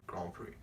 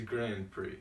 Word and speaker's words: Grand Prix: like a British accent, so they go like Grand Prix. And then I like caught myself saying like Grand Prix. I'm like, no, like the right way to say it if you're an American is Grand Prix.